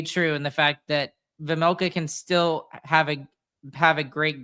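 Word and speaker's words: Vejmelka: Veg Karel Vamelka. Vamelka. There you The go, The Vamelka. J is silent.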